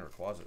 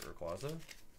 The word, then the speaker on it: Rayquaza: I was saying Rayquaza. That's how you say it, right? Rayquaza.